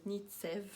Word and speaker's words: Knitsev: Donc je m'appelle alias Nitsev. Donc on ne prononce pas le K, n'est-ce pas?